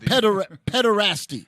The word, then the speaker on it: pederasty: How do you pronounce that? Pederasty.